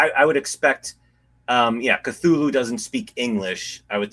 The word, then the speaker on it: Cthulhu: So, yeah, and I mean, yeah, if you want to get really geeky about it, you can say his, you know, the name should be pronounced in a very exotic manner because it's an alien name that, you know, can't even be pronounced by a human tongue, but No. I as much as I love Lovecraft, uh yeah, I I just go with Cthulhu.